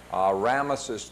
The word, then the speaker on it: Ramesses: Ramesses II, you can pronounce it either way, and one of those